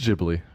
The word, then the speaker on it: Ghibli: Technically, it'd be Hibli. Ghibli. But anyway, are you gonna play the Yeah, I'm gonna. pronunciation? Ghibli. It is Ghibli.